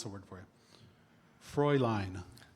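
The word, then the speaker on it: Fräulein: Philippic uh this word could be um okay just I'm going to pronounce the word for you. Frey line. Fre line.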